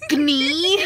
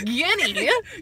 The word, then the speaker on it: guinea: She's She's like, is it like gnee? I'm like, gnee? Gnee? No, it's guinea.